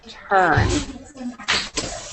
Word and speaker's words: turned: Okay, so these two words right here are fooled and turned. So we don't add an extra syllable.